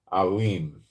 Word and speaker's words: Elam: prophet in Hebrew, against Elam. In English, it would be Elam, and in Hebrew, you'd pronounce it Alim.